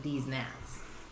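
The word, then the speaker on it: DezNats: I think technically it's pronounced Des Nats, but it's spelled D-E-Z-N-A-T-S, so you kind of want to pronounce it D's Nats.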